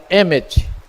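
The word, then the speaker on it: אמת: Se pronuncia Emet, que é o Aleph, que é a primeira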